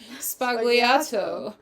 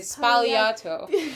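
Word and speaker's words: Sbagliato: like a Negroni with I heard the Italians say Spagliato. You're not supposed to pronounce the G, I guess. Spagliato with prosecco in it.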